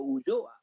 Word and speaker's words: Ulloa: How do you pronounce it as an Argentine? My dad said Leo Ulloa.